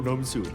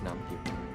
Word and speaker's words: Nam-gyu: Yo, Nam-su. It's Nam-gyu. Nam-su.